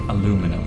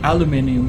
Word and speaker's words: aluminium: which makes aluminium ingots and I don't like aluminum it sounds weird it's called aluminium I don't know if it's British or American English but aluminium is the correct way to pronounce it according